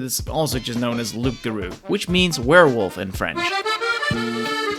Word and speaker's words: Loup-Garou: that much is I think that's how it's pronounced in French but it is also just known as Luke Guru which means werewolf in French this is the